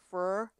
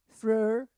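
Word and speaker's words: Freur: It's Doot Doot, which is by, I always pronounce their name a little weird, by Fur. Fleur.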